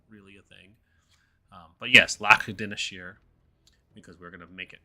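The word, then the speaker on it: Lac Dinneshere: Pronunciation isn't really a thing. But yes, Lac Dineshire, because we're gonna make it proper.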